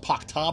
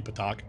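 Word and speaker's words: p'takh: I've been crushing Pakta beneath my boots since before you were born! I've never heard it pronounced Pakta before. It's supposed to be Patak.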